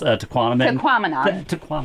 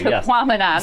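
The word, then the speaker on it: Tahquamenon: Tequamanon. Thank you. Tequamanon.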